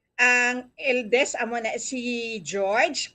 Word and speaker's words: Georg: Bali, ang eldest, amo na si George. Kung sa German, na siya mag-pronounce sa amon, Georg.